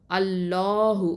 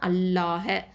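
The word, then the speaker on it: الله: அப்போது அல்லாஹ் அப்படிங்கிற வார்த்தையில் உள்ள லாமுக்கு முன்னாடி எழுத்து ஃபத்தா இல்லைனா தொம்மா இருந்துச்சு அப்படின்னு சொன்னால், அல்லாஹ் அப்படிங்கிற வார்த்தையில் உள்ள லாமை தான் தஃப்ஹீமா, அதாவது வல்லினமாக உச்சரிக்கணும்.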